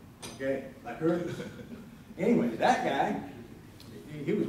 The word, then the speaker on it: Lycurgus: Yeah, how do you pronounce it? Lycurgus. Okay, Lycurgus.